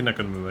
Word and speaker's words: Naganuma: Hideki Nakanuma, yeah.